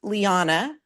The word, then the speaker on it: Lyanna: Um, let me just say very quickly my first name is pronounced Lyanna. It rhymes with Nirvana.